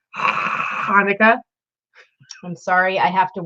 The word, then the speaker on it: Hanukkah: It's actually pronounced Hanukkah.